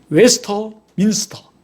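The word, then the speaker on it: Westminster: 예, 정확한 발음은 웨스터민스터.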